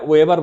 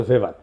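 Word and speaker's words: Weber: এটা ওয়েভার বলে অনেকে। এটা উচ্চারণ আসলে ভেভার।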